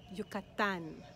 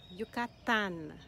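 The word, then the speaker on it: Yucatán: do you say it yukatan yukatan the emphasis is on the last syllable because that's where the a is yucatan another beautiful place in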